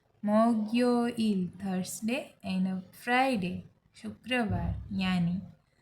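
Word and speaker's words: 목요일: Okay, तो Monday को कहेंगे वोरियो इल, प्रोनाउंस लाइक वोरियो इल। ट्यूसडे वायो इल, वायो इल। वेनसडे सुयो इल, सुयो इल। थर्सडे मोग्यो इल, मोग्यो इल।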